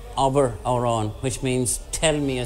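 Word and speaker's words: abair amhrán: to remember that an irish you always say abber auron which means tell me a song tonight his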